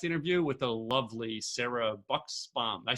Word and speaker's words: Buxbaum: Hey guys, Tim Gillette with the Tim Gillette Show, and I am back here for another podcast interview with the lovely Sarah Buxbaum.